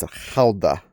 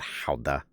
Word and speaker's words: Gouda: And yeah, I know how to pronounce Halda properly, too. My favorites are uh Gouda and aged Gouda. I know I'm saying it American, not Halda.